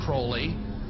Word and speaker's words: Crowley: individual undeveloped Aleister Crowley he likes to have his name pronounced Crowley to rhyme with Foley and the statements today